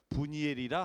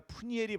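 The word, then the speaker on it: 브니엘: 분이엘이라 하였더라. 분이엘을 번역하면 하나님의 얼굴이에요. 파나라고 하는 히브리예요. 하나님이란 엘이에요. 그래서 원래 분이엘이 아니라 푸니엘이 발음이 맞습니다만 하나님의 얼굴을 먼저 봤어요.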